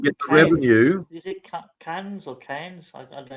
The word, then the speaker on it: Cairns: Is it Cairns or Cairns? I don't know how you pronounce it. Cairns, yeah.